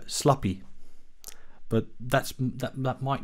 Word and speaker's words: Schlappi: that it's swiss uh so i don't really know how it's pronounced there's more more ease in it i believe probably well the the the swiss are quite similar to the dutch in their pronunciation especially in the sch sounds so if i would pronounce this as a dutchman i would probably say uh sloppy but that's that might